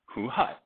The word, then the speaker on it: Hu Hai: And his second son's name was Hu Hai. How do you say his name correctly? Hu Hai.